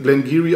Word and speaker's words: Glen Garioch: Ja, Glengarry, Glengarioch, geschrieben, Glengarry ausgesprochen, gehört mit zu den ältesten Brennereien in ganz Schottland.